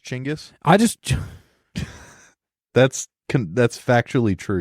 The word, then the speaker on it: Genghis: We have my cousin's dog's name is Macaroni, so You should name it Genghis. I don't think you're talking into the mic. I am. Okay. Genghis? Genghis? It's actually pronounced Chinggis.